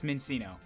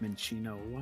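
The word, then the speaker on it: Minccino: Now I'm gonna kill the fuck out of this Mincino. I believe it's actually pronounced Minchino.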